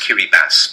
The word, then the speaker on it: Kiribati: um it's actually pronounced Kiri bass because they only have 13 letters in their alphabet so TI stands for S kiribas and if you